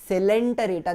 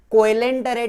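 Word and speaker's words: Coelenterata: group है वो है सिलेंट रेटा देखो उसका स्पेलिंग कोलें टरे जैसा दिखता है लेकिन हम प्रोनाउंस कैसे करेंगे सेलेंट पूरी पूरी के बाद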